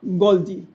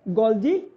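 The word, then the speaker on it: Golgi: हैं गोलजी एटस या गोलजी body L silent हो गया किसने डिस्कवर करा था इसमें कैमिलो गोलजी और इसीलिए इसका नाम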